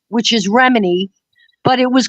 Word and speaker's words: Remini: It's spelled like her last name, which is Remini, but it was called Ramini's Bakery.